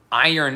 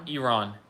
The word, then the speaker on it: iron: Iron is a pretty tricky word. Really? Iron? Iron. Oh, yeah. Iron. Iron. Iron. Iran. No, it's iron. Yeah, that's a good one. I-R-O-N is a pretty tricky word.